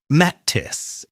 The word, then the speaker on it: lettuce: I know it's tempting to see the letter U and say something like lettuce or lettuce, but we need to use the short i vowel sound here. Lettuce, lettuce.